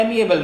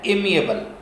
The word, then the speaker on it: amiable: एमिएबल कुछ दोस्तों को मैंने कहते हुए सुना है, एमिएबल नहीं बल्कि इसकी एग्जैक्ट और प्रिसाइज प्रोनाउंसिएशन है एमिएबल, AMIABLE, एमिएबल।